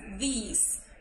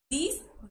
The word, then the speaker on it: these: La pronunciación de this and this es diferente. This es como un sonido seco. This. Y la otra es these. Entonces hago más largo el sonido de la I. These, these.